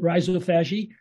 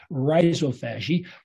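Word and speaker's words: rhizophagy: uh she called it Riso fagi uh she actually called it uh R Riza something or other she pronounces it in an Australian way but the American way to pronounce it is Riso fasi her gr monies ran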